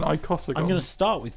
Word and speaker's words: icosagon: how many sides hasn't I can't pronounce it I C O S A gedin there's no he icosagon oh okay an icosagon I'm going to start